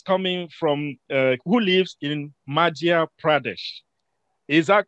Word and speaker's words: Madhya Pradesh: Pooja, who is coming from, who lives in Madhya Pradesh. Is that correct? Did I pronounce well?